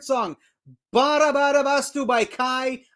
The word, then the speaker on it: KAJ: Bara bara bastu by Kai. Yes, I'm saying it correctly because I called him Kaj for some reason on my reaction video.